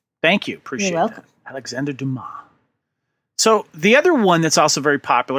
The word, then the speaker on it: Dumas: you kevin it's alexander dumas like illinois the s is silent thank you appreciate welcome alexander dumas so the other one